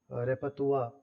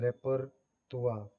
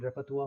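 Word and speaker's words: repertoire: अगर आप वोकैबुलरी या रेपतुआ एक वर्ड होता है, रेपरतुआ, जिसकी स्पेलिंग रेपरटोयरी जैसी होती है, लेकिन इसकी प्रोनाउंसिएशन रेपतुआ होता है।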